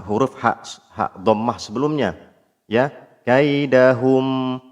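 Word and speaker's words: كيدهم: Kaidahum hum. Nah, ini enggak pas hum tapi hum. Karena apa? Karena huruf mim pada kaidahum itu dia huruf tipis. Maka kembali posisi mulut seperti mengucapkan huruf yang tipis.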